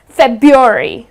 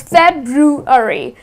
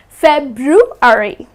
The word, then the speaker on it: February: So it's something like this - it's February, please do not drop the 'R' it's not February it is February.